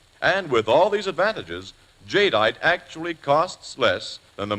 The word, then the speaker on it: jadeite: But nowhere is this better exemplified than in the creation of a new kind of dinnerear called jadeite, and it's spelled j a d e i t e.